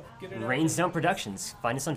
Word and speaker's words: Raines: So it's not like Rain. Rain. It's rains.